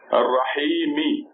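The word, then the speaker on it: الرحيم: So the whole thing pronounces Bismillahi Ar-Rahmani Ar-Rahimi. But if you stop, you don't have to say me. Then you put a sukoon on top of this letter and becomes Bismillahi Ar-Rahman Ar-Rahim.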